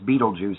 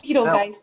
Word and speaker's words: Betelgeuse: Yeah, but yeah, we say it as Beetlejuice here in the States, but it's because we're American. Yeah, but it's actually like Beetle guys.